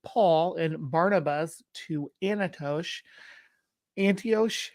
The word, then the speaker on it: Antioch: Antioch?